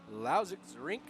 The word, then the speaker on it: Lausitzring: day everybody we are here live at the lousix rink i believe i said it right that time